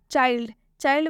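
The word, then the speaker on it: child: चाइल्ड में भी डी से पहले एल आया है लेकिन इस एल का उच्चारण यहाँ पर आधा ल से हो रहा है।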